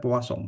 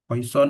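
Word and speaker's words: Poisson: Ini bacanya peasong ya, poison atau peasong.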